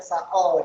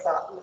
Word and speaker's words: Sa'i: Tadi Bapak dengar ketika kamu baca slide nomor 3, kamu bacanya sa'al gitu ya. Oh iya. Lidahku pleset gitu. Itu sa'i ya.